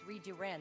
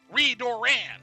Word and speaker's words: Redoran: Though I am a scholar, not a warrior, there are few non-Dunmer who know more about House Reduran than I. Redoran! Don't press your luck. House Redoran.